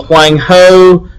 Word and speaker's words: Huang He: I do know that it's the Huang He, as spelled here on the board. That's the pronunciation, as I've been told by people who are smarter than me.